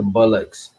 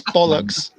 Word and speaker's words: bollocks: You need to quit the bullocks. It's bollocks.